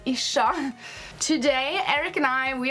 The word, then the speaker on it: Ircha: called ishshah' gaming and everyone pronounces that kind of wrong Archer is fine but it is a shock today Eric and I